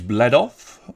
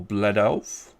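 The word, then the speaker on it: Błędów: Now, Bledo, it could be pronounced in a number of different ways before you shout at me. It is spelled, as you can see on the screen. It can be pronounced in a number of different ways. And if I'm being honest, the way that you would probably pronounce it is Bledov or Bledov, because it is in Poland, believe it or not.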